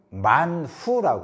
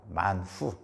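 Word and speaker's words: מן הוא: 이게 무엇이냐라는 히브리 말의 발음이 만후라고 그럽니다. 만후.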